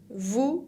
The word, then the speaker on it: vous: Vous, con la S final que no se pronuncia y la V labial, V.